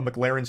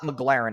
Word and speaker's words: McLaren: spends filling up a McLaren's tank okay so this part pisses me off because he says the name wrong like eight times in a row it's not McLaren it's McLaren okay so that's how